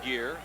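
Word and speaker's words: Gher: gear pushing bunch jeff gear it's spelled g-h-e-r pronounced gear there he is 14.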